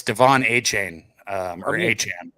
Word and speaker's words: Achane: It's Devon Achane, or A-Chan. A-Chan's how you say it. The guy I listened to for years at A&M that announced him always said A-Chain, but it's A-Chan, I think, is how you say it.